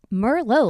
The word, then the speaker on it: Merlo: Technically, it's so it's Italian. So it's the French is Merlot with a T on the end, so there's no T. So it's technically not the wine, but it's pronounced the same way.